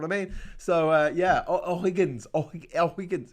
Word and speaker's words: O'Higgins: santiago is named after o'higgins and the thing is that in in spanish h is a bit of a weird letter you don't really pronounce it like you say ola